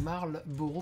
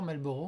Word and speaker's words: Marlboro: Alors, c'est Marlboro, parce que tout le monde l'écrit de travers, Malboro. Hein. Enfin, tout le monde le prononce de travers aussi.